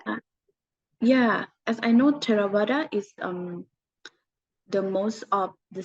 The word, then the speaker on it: Theravada: I'm going to pronounce it bad. Please correct me. But is it Theravada or Mahayana or Vajrayana? Yeah, Theravada.